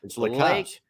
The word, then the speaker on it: LaCaze: As he was talking, he said LaCaze. LaCaze. I heard that. So from now on, it's LaCaze. LaCaze. He said LaCaze. Yes, I've heard nothing but LaCaze from everybody that's ever talked about him.